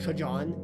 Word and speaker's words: Trajan: How'd you pronounce Trajan? Trajan. Yo, it's just Trajan, man.